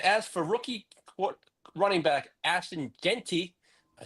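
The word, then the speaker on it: Jeanty: And as for rookie running back Ashton Genty, I said it right.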